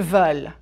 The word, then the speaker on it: veulent: But ils veulent is different. Prononcez, s'il vous plaît. Marc veut un café. Marc et Sabine, ils veulent 2 cafés. Veulent. You just need to open your mouth a bit wider.